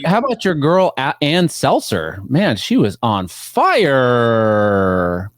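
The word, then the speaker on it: Ann Selzer: It's pronounced Ann Seltzer.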